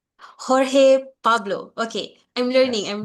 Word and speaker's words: Jorge: Horge uh Pablo from the National University of Costa Rica. And basically for professor Horge uh I pronounce your name right. Did I pronounce it correctly? Uh Jorge Pablo.